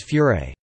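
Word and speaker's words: フライ: It would become something else called fry or pronounced in Japanese as furé.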